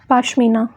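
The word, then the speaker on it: pashmina: Then कश्मीरी या कश्मीर पाशमीना या पश्मीना, ठीक है, प्रोनाउंसिएशन बहुत सारे टाइप की होती है।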